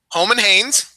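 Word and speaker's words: Roman Reigns: Holman Haynes. That's the Brazilian pronunciation of it.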